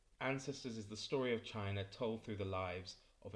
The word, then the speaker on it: Qin: belongs to is the chin family which is spelt in our alphabet with q i n and in this book